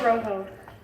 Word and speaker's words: Rojo: batting number nine lorenzo rojo that's how you pronounce it a little less rolling though oh rojo able